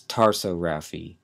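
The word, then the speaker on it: tarsorrhaphy: together the eyelids is known as what that's tarso Rafi t a r s o r r h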